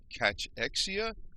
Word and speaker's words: cachexia: a condition they called catch Exia and it's at CAC h e I a so it's kind of rhymes with anorexia but it's got to see in front of it sort of like the